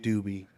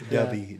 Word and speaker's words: Dubby: saying it right I it's not doobie CU I looked it up it's duby dub y would you